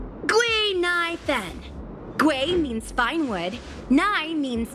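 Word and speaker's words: Guinaifen: an authentic Ceno name based on the pronunciation gu NY Fen gu means finewood NY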